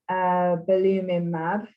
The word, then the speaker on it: belimumab: And about 8 months ago now, we started on belimumab.